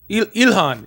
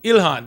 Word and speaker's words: Ilhan: Ilhan. Ilhan. There it is. Ilar. Oh, Ilhan.